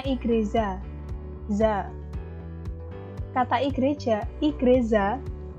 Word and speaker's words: igreja: kata dalam bahasa Portugis yaitu igreja bacanya igreja Za kata igreja ih